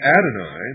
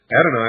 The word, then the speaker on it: Adonai: not God, would Adonai, the God of the Christians and the Jews,